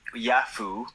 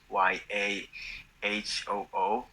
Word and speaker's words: Yahoo: in a company maybe you might have heard yafu y a h o o like a cool you know oh yeah yeah